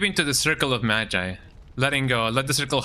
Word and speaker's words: Magi: Magi, that's how you pronounce it.